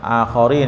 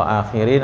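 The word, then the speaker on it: آخرين: akhorin kaum yang lain akhorin ya bacanya kalau akhirin artinya yang terakhir kalau akharin yang lain jadi beda harakat beda arti ya kamu akan dapati ak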